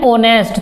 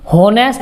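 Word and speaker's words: honest: जैसे एन ओनेस्ट, तो ओनेस्ट को कभी भी हम होनेस्ट नहीं कहते, एच से शुरू होता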